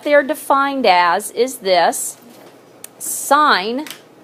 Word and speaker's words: sine: on your calculator is SI n but you do not say sin okay you you want to sound educated and you know